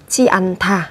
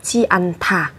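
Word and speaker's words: 지 않다: Chi ăn thả mang nghĩa là không. Các bạn lưu ý về cách phát âm, đó là chúng ta sẽ có ở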